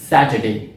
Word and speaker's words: Saturday: पहली तो लोग इसको आर साउंड के साथ प्रोनाउंस करते हैं, यानी वो इसको सैटर कहते हैं, और जो सेकंड पार्ट है वो जैसा मैंने आपको पहले बताया उसको डे कहते हैं।